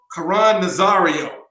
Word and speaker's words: Caron Nazario: Caron Nazario.